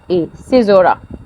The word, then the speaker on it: caesura: और एक और फिगर ऑफ स्पीच है दैट इज CAESURA, सिजोरा। ठीक है, क्या स्पेलिंग है? सिजोरा।